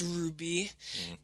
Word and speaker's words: RWBY: never seen anything about our waby which is pronounced ruby they had four trailers